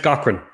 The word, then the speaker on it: Gaughran: trips people up it's it's pronounced Cochran which it's fun hearing